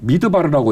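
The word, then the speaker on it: מדבר: 자, 광야라는 말은 황무지라는 말, 벌판이라는 말인데 히브리 말로는 미드바르라고 읽어요.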